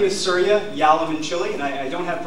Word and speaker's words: Yalamanchili: my name is suria yam and Chile I know it's a lot to pronounce can be hard to pronounce but I I'm lucky I've got Cincinnati's favorite food in my name for everybody when you